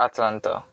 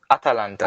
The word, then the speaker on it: Atalanta: Is it Atalanta or Atlanta? Atalanta. Atalanta.